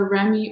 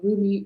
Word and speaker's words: Rumi: This is from, first of all, the Remy or Rumi Oracle deck by Elena Fairchild. And so Remy or Rumi, depending on how you pronounce it, is a 13th century poet, Persian poet.